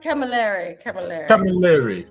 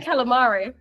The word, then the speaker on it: Camilleri: How do I pronounce it? Camilleri. I was close. Okay. Yeah, better than calamari.